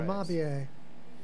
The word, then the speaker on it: Amabie: We got a Japanese spirit amabie. Is that how you say it? Absolutely. It is. I think I put a pronunciation there.